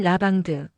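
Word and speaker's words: lavande: 라벤더의 프랑스식 발음은 라방드.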